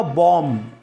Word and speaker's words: bomb: तो BOMB नहीं होगा, BOMB जो बॉम्ब नहीं होगा, बॉम्ब। एम के बाद जब भी बी आता है तो ध्यान रखना साइलेंट होता है।